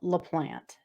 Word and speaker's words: LaPlante: things first of all his name is pronounced la plant to the best of my knowledge some uh videos i've seen they pronounce it laplante uh i don't know and if i'm wrong that's fine you can let me know but the plant is where we're going with it because i don't really